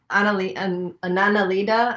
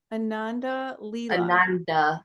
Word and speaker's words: Ananda Leela: And the people that know Anandalita, I can't even say it the right way. How do you say it the right way? Ananda Leela.